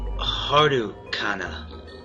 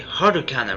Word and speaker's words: Harukana: name is yubis say Hardo Kaa huh you said it wrong didn't you you actually meant to say harukana right hard you you